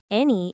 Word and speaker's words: any: Any is pronounced any, 2 syllables. In fast speech, it sounds like any, very quick.